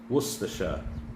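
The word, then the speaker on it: Worcestershire: So I'm going to substitute it with worstasa sauce. Worster Worersha. That's how you say it. Or Warchester.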